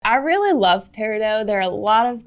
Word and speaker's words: peridot: pronunciation of parido so some people in the gem industry also call it paridot most people call out Paro so we're going to stick to parido for this episode but we do want to acknowledge you Steph Universe fans and other people who like to use the par do pronunciation so this is August